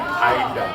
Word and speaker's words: Ida: Ida. Idea. It's like idea without the E.